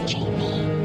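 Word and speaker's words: Jaime: All right, thank you very much, Jane. Jane. Customer Jane. It's Jamie.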